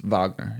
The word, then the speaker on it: Wagner: Mitchell maybe you got Wagner or Vagner I don't know how you say it he's he's Vagner he's German right yeah this matchup might